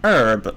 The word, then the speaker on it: herb: say the h now herb yeah i don't think anyone do some people say the ancient herb huh because i have always pronounced it without the h in that case you